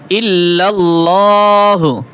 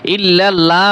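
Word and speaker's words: إِلَّا اللّٰهُ: অনেকেই পড়বে লা ইলাহা লা ইলাহা এরকম তো উচ্চারণ হবে না হামজা জের ই লা ই লাহা লা ইলাহা ইলাহা লা ইলাহা এরপরে ইল্লাল্লাহু এইখানে এইযে লাম রয়েছে এই লামটা পাতলা করে দে অনেকে ইল্লাল্লাহ বলে ইল্লাল্লাহ তো বলা যাবে না ইল্লাল্লাহু ইল্লাল্লাহু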